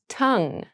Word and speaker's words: tongue: Tongue. Tongue. Tongue. Tongue has a very interesting spelling, but we don't pronounce it with that G-U-E sound at the end. It's tongue.